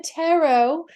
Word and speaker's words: tarot: hello to you out there it is Tien tarot according to the Cambridge English dictionary which I'm